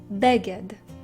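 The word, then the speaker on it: בגד: The next word is Beged. Again, the stress or the accent falls on the first syllable. It's Beged.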